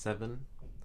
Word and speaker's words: Se7en: I guess it's pronounced Seven, and it's by David Fincher, and I watched it last night, and it was crazy.